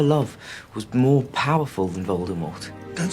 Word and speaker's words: Voldemort: To be faithful to the French origins of the name Voldemort, J.K. Rowling had intended for the T in the end to be silent, but it didn't come across in the book properly.